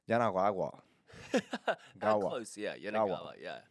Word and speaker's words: Yanagawa: Yanagawa.